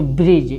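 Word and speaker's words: bridge: इसको ब्रिज क्या पढ़ेंगे, ब्रिज। आई कहें कि जी से पहले डी आया, ई साइलेंट हो जाएगा, और जी यानी लास्ट में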